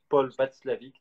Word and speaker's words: Watzlawick: standards, il y a Paul Václavic, donc ça c'est un peu plus subtil comme référence, c'est inorthographiable, mais je vous le donne quand même. Donc ça s'écrit Watzlawick, mais surtout le livre que vous retrouverez facilement.